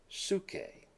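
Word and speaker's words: ψυχή: And we pronounce it suke.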